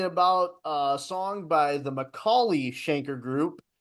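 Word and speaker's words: McAuley: I like McNally Schenker better than the Michael Schenker band. Who's McNally? Not me. Yeah, who's McNally? Macaulay.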